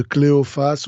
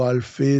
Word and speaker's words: Cléophas: mari euh femme de cléophace ou alpé selon parce que en hébreu on peut on pourrait dire alpé en en grec on dit cléophace ou cléopa selon les les prononciations et les langues en effet ça ça